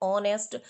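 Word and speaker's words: honest: इसको भी ऑनेस्ट नहीं बोलना है। इसको बोलना है ऑनेस्ट।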